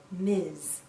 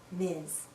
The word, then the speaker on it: Ms: we pronounce this as Miz Ms sounds like a z at the end Miz a woman can choose